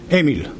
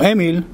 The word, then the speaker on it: Emil: So Emil, you pronounce it with the Segol.